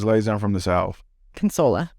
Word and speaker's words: Consuela: Consola. Consola. Very easy. I've always been saying like Consuela. Yeah, there's no U in it.